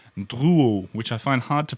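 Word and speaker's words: Drouot: about this CER this quarter in Paris called Duo which I find hard to pronounce but let me spell it for you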